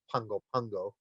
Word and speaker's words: Pago Pago: They actually pronounce it as though there's an N in there. It's pronounced Pungo Pungo.